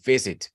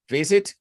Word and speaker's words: visit: párrafo, lo que sea, les recomiendo que cuando comiencen con una V, la pronuncien más bien como una F, porque siempre nos va a dar mucha dificultad abrir con una V, ¿sí?